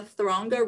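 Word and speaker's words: Þröngá: the little shrunken down p that actually is pronounced the like th so this is the throngo river and thronga and icelandic means narrow yet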